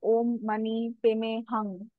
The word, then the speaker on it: Om Mani Padme Hum: So the word Om Mani Padme Hum is Sanskrit, and there is a Tibetan version of that also. It's called Om Mani Peme Hung, or sometimes it can also be pronounced as Hum.